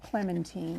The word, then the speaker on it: Clementine: It's spelled Clementine but she calls herself Clementine.